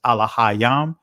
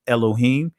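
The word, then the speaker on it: אלהים: i go over uh the ancient pronunciation is a la hayam the israeli pronunciation is elohim uh the singular uh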